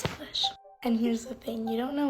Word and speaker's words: Salish: Oh, also, by the way, when you said my name, you said it with a question mark, but thank you for pronouncing it right. You're right, it is Salish.